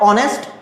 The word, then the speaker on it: honest: Because in the word honest, R, and honorable, the sound of H is silent.